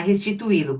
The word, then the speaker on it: restituí-lo: Agora vamos lá, restituí-lo. Qual é a sílaba tônica? I. Restituí-lo. Isso, é esse i aqui.